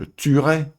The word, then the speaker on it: tuerai: par une fois yale le e de l'infinitif n'ai jamais prononcés exemple avec le verbe tuer je tuerai futura elle tuera duthuron